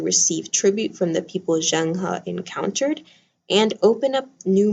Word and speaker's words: Zheng He: trade are the voyages of Zhang He. Am I pronouncing that right? Zheng He. All right, the voyages of Zheng He.